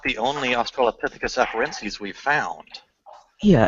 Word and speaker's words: afarensis: How do you pronounce the last one? Afarensis.